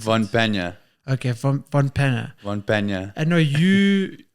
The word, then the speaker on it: von Pannier: How do you pronounce Von it? Pannier. Okay, Von Pannier.